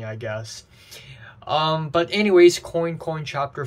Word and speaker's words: Coin Coin: 5 in the garden so uh it's not pronounced Quang kuang like the French anamia for duck uh for for duck quacks no it's actually coin coin not Quang kuang and I know that thanks